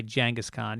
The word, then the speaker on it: Genghis Khan: Because it was either Genghis Khan, pronounced, by the way, Genghis Khan, even though people will fucking argue with me about that.